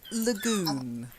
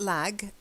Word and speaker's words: lagoon: old Bayou and then Lagoon not lag the lagoon try it Lagoon yeah and then something